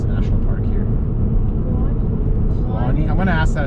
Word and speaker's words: Kluane: Kluane. I'm going to ask that at the visitor center. Is it Kluane? Klaune. How do you pronounce that in English? It's Kluan.